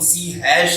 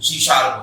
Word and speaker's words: C#: है, इसीलिए वहां पर लिखते तो हम लोग सी हैश है, लेकिन उसका प्रोनाउंसिएशन जो होता है वो क्या होता है, सी शार्प होता है, क्योंकि जो हैश लिया गया है वो म्यूजिकल नोट में जो राइटिंग होती है वहां से लिया गया है।